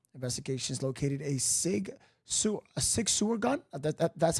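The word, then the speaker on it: Sig Sauer: Beach South Carolina investigations located a sigu a Sig sewer gun that that that's how you say it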